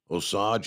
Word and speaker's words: Osage: update in Kansas but Osage is pronounced long o o sage like the spice okay o Sage Kansas